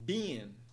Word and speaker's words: been: Segunda palavra, nós vemos no padrão de pronúncia da palavra been, o som de vogal é linha, que soa como I. A palavra tem apenas uma sílaba.